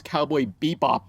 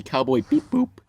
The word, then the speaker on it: Cowboy Bebop: I still get comments saying, "Hey, that's not how you pronounce Cowboy Bebop," and I always say Cowboy Beep Boop.